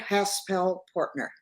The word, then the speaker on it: Haspel-Portner: how it's what's the the the correct full pronunciation of your name for our listeners haspel pner haspel I don't know why you struggle